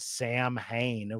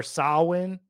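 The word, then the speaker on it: Samhain: know that I called I pronounced a band Sam Hayne, which is not how you pronounce that band. And I did we discover how to pronounce it? Uh, I think it was it's either sin or sawin. Uh, like you were saying. Yeah, it's a Celtic word. We found out.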